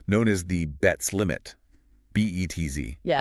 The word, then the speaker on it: Betz: B-E-T-Z. Yeah. Pronounced like the word Betz.